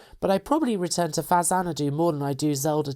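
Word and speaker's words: Faxanadu: Pronounced Fazanadu because it's the Famicom version of Nihon Falcom's legendary action RPG Xanadu or Dragon Slayer 2, Hudson released this Famicom reimagining of the classic action RPG.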